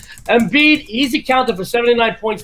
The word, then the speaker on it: Embiid: Joel Embiid, no matter what side of the border you're on, you want to pronounce his name correctly. Embiid, he's accounted for 79 points, 22 boards, guys, in the series.